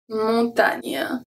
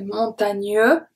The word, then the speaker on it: montagne: Montagne. So the E at the end, I don't say montagneux. Nye. I say montagne.